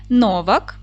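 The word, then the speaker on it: Novák: найпопулярніші в Чехії прізвища Дотримуйтесь діти правила наголошення чеських слів пам'ятайте його правильно наголос буде падати на перший склад Отже Новак Свобода Дворжак чех горок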